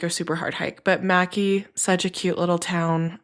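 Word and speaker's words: Mackay: is super fun it's Mackie and it looks like McKay but it's pronounced macki and it's just the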